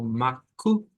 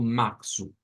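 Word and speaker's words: março: Y es que a veces esta C se pronuncia como K y a veces se pronuncia como S. Entonces vamos a encontrar algunas pronunciaciones que nos lo van a decir como Macu, Maccu, para referirse a marzo, y hay otras que la van a pronunciar como Maxu, como una S.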